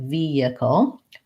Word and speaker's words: vehicle: may have guessed that in vehicle we don't say the H sound it sounds more like vehicle but in vehicular we do say the